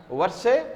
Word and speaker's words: Versailles: big Palace known as Versailles Palace what is it actually L is silent there so you have to